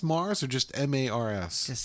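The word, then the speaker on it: M/A/R/R/S: now is it pronounced Mars or just m-a-r-s just say Mars Mars was it number one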